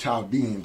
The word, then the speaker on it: Chaldeans: today, and what they call themselves Chaldeans or Chaldeans in Arabic, because the H is silent.